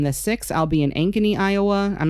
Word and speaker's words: Ankeny: And then on the 6th, I'll be in Ankeny, Iowa. I'm not sure if that's how you pronounce it.